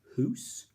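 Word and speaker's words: hoose: we've also got um deed coup kloot hoos rang strang and lang the pronunciation's dead cow clout or cloth wrong strong and long d ku klux rang strang and lang who's for house so you've got all these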